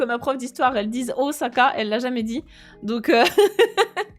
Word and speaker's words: Osaka: grande pente et n prononcez plus jamais Osaka avec un Z parce que a pas de Z il y a pas de Z ici en japonais c'est Osaka je me suis battu